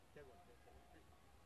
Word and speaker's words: Tagore: English people are saying Tagore. Tagore. His actual name is Rabindranath Tagore. Tagore. But Western people pronounce it something Tagore. Actually, his surname Thakur. But Western pronunciation say Tagore. G-O-R-E.